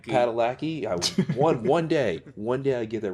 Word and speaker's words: Padalecki: Pronounce that right? Padalecki.